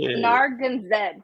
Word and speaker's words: Narragansett: So it's pronounced Narragansett, but it's funny you mentioned that too, because